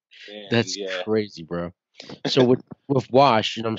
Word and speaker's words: WVSH: my god that's crazy bro so what wash I'm saying um and people don't know yet